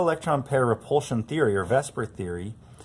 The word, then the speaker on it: VSEPR: You'll notice right away that I'm not really pronouncing it the way it's spelled.